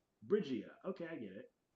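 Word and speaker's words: Brigitte: It says the Overwatch hero with the most confusing name in the series, Bridget, pronounced Bridge E and rhymes with Vegeta. Brigia. Okay, I get it. Brigitta.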